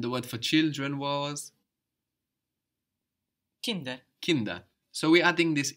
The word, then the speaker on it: Kinder: the plural, and also that D is softening again, becoming like a D again rather than a T, because it's not at the end of the syllable anymore. It's starting a new syllable, Kinder, rather than Kind.